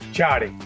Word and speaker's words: Ciotti: How do we pronounce it? Ciotti.